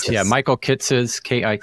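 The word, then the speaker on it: Kitces: so most people will not be familiar with kitus and how to spell it it's k i t c e s that's right yeah Michael kites kit T CES hopefully we're pronouncing it correctly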